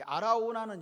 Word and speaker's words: 아라우나: 이 아라우나는 여부스식 발음이고 뭐 이게 오르나는 히브리식 발음이다.